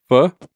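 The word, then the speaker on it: phở: Pho, P-H-O. Yeah. So this is how it's spelt.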